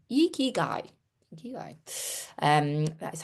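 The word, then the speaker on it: ikigai: Thanks Cla for phonetically eeky guy. Eeky guy.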